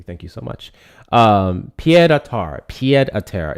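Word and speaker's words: pied-à-terre: Pied à terre is the pronunciation.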